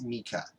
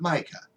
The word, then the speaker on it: Micah: I always saw it being pronounced as Mica. The chick that played his mom said Mica. I mean, every person that said his name in the original series pronounced it as Mica, not Micah. Micah just sounds kind of ridiculous because we're used to it pronounced in a different way.